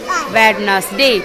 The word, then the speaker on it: Wednesday: वेडनेसडे नहीं बेटा, डी यहाँ पर क्या है? साइलेंट। डी लिखने में तो आएगा पर बोलने में साइलेंट हो जाएगा, ठीक है? तो WEDNESDAY, वेडनेसडे।